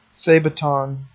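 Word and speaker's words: sabaton: then I went and looked up how to say this it's a say baton so that's what these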